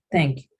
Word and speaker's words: thank you: El sonido de TH es un sonido pues muy característico. Es igual a la Z española o la Z española, ¿sí? Como quieren llamarle. Este sonido se realiza colocando pues la lengua en el borde de los dientes superiores, ¿sí? Y haciendo un sonido de S, ¿sí?